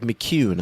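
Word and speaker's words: McKeown: been reading called Essentialism by Greg McHune. I I think I pronounced that right.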